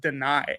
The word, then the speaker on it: Dani: It's pronounced Dani, actually.